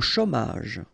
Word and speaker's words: chômage: Au chômage. Remember, CH together, sh, chaud, chômage, au chômage.